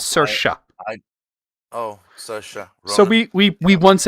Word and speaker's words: Saoirse: I know it's spelled. It's Irish. It's Saoirse.